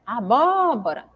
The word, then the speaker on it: abóbora: E aí, se eu chamo ela assim, olha, abóbora, eu vejo que o bó, o primeiro bó que tem ali, o acento, é a sílaba tônica.